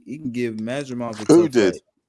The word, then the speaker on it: Madrimov: It's pronounced Madrimov.